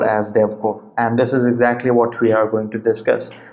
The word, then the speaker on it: DEVCOR: Okay, the exam code shortly can actually be pronounced as DevCor itself.